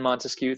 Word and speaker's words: Montesquieu: Montesquieu believes in separation of powers. Those 3 branches. Remember, 3 syllables in Montesquieu, 3 branches.